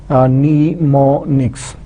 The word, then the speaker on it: mnemonics: This M is silent. M is silent, so it will be mnemonics. So you can pronounce mnemonic.